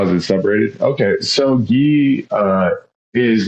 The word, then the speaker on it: gi: even saying it right is it ghee no it's ghee G or no ghee there you go okay